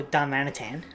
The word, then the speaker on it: Darmanitan: Darmanitan.